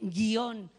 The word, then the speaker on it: guion: acentuación por qué porque esta palabra no puede pronunciarse de otra manera que haciendo la o tónica haciendo que el acento recaiga sobre la o da igual que uno pronuncie guion con un iato o que pronuncie con un diptongo a efectos de acentuación gráfica la información es la misma la tónica es la o porque si fuera la